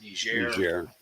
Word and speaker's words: Nigeria: then this year was Nigeria um be careful how you pronounce that you can get in trouble soft G soft G okay just a warning